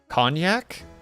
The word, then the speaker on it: cognac: Pronounced as cognac?